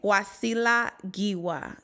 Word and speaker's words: Wasila Giwa: I am your host wasila gwa let me say that let me run it big for those that don't know how to say my name wasila gwa with the African accent welcome welcome welcome avar